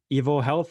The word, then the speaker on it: EvoHealth: into uh your your startup basically is it evil health am i pronouncing it right yes you are yes so